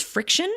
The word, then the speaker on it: Frixion: So like they use friction, like the name suggests, right? Pilot Friction Pens. By the way, their name is spelled Frixion instead of CT, but they use friction or heat to erase, and it actually does work.